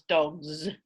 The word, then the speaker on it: dogs: when they come together that becomes dogs with a z sound because of progressive assimilation right the the g is voiced and that affects the following s so that's the interaction